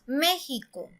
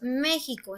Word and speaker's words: México: tampoco decimos méxico entonces si pronunciamos más fuerte la ante penúltima sílaba diría méxico entonces nos damos cuenta que la sílaba tónica si está en está en la antepenúltima sílaba nosotros diríamos méxico y es la manera